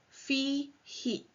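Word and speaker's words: فيه: They don't change cases, but for ease of pronunciation, the who is pronounced as he when the preposition fi precedes it. So it is fi he.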